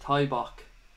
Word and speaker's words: Tybok: My screen name is pronounced Tybok, says Mr.